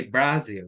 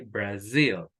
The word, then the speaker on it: Brazil: in the first syllable but for example Brazil we don't say Brazil we say Brazil we say Japan we